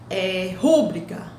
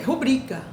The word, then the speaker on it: rubrica: Por exemplo, quando nós falamos rúbrica, não existe rúbrica, é rubrica. Se fosse rúbrica, teria o acento, porque é a proparoxítona.